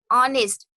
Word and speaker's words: honest: So you're honest, adjective, but it's pronounced with a O.